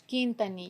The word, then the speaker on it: Quintanilla: Quintanilla. Quintanilla. That's what I The got. U is silent.